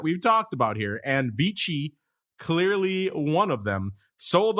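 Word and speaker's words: VICI: American it' be VC if it's Italian it' be vich vichi properties VI ticker symbol vich VI C I'm going to pronounce it the Italian way because why not vich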